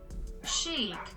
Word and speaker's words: chic: because i don't know how to say it chic yeah so it's chic kimchi beauty all right